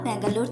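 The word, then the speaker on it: ಬೆಂಗಳೂರು: নমস্কার আমি পূর্বা ব্যাঙ্গালোর থেকে বলছি কাছে দূরে দেশ ও দেশের বাইরে যে যেখান থেকে আমার ভিডিওটি দেখছেন সকলকে আমার আন্তরিক শুভেচ্ছা ব্যাঙ্গালোরে বাঙালি চ্যানেলে আপনাদের সকলকে আবারো স্বাগত দক্ষিণ ভারতে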